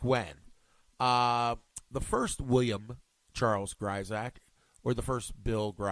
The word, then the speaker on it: Grisack: that do not know the proper way to pronounce my name Brides Act even though spell Grif K the ayahs